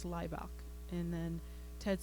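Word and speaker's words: Hlibok: And Greg very articulately said, the H is silent, it's Leibach.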